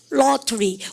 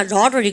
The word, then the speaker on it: lottery: 여러분들 미가 win the lottery. 이거 발음할 때 쌤이 어떻게 한다고요?